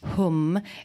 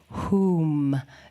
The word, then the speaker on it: HUM: a lightning fire and it's pronounced whom it can also be pronounced with a long vowel so that would be more like whom like room and that is a